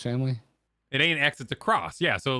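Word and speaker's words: Spy × Family: for maximum chat rage you should pronounce the X and spy X family as cross like Street Fighter cross Tekken oh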